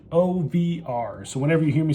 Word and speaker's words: OVR: of the company and the company is pronounced OVR so whenever you hear me say over or any other version